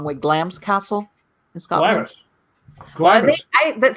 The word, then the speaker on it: Glamis: it the wrong way glam's castle in scotland i that somebody told me no it's not glamorous it's glams and i'm like yeah